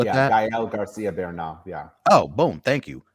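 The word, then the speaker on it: Gael García Bernal: I don't know how to pronounce this young man's name. Gael Garcia Bernal. Oh, Gael. Gael Garcia Bernal.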